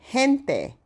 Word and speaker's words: gente: People, gente. The G is pronounced like an H.